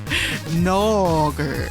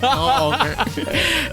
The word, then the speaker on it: Nogger: And Jay Hunter, how's it pronounced? Nogger. NAWG. Nogger.